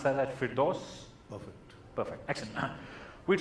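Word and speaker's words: Firdos: OS f ir d OS d and you pronounce that fit dose of it perfect actually we'll try this think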